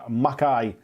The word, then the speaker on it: Mackay: David says close but neither. It's pronounced Mackay, like the Scottish Mackay.